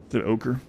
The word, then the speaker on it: ochre: it'll work with this you say it like okra ochre okra Shield great dwarf name